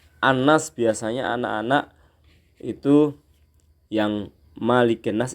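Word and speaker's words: مَلِكِ النَّاسِ: biasanya anak-anak itu yang malikinnas ini bacaannya bisa mligine situ salah ya gol a'udzu birabbinnas malikinnas itu Maya pendek dan setiap ada Nun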